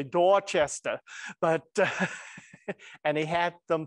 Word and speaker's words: Dorchester: and posted them on dorchester all right i said it wrong you're supposed to say dorchester but and he had